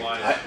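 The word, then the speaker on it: Wwise: I don't know, actually, how do you say that? Does anyone know? They say Wise.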